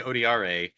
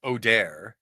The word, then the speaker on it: Odair: So So you say odiier. I say odi. And then in the pronunciation guide at the end, it's in fact it's it's odair.